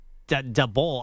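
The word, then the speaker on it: Daboll: like a decade and nobody knows how to pronounce his name. I say Dable. Some people say Doul. I don't even know how other people say it. It's pronounced Dable, but yet you go down the hallway at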